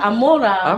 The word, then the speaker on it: Amora: Amora. Amona?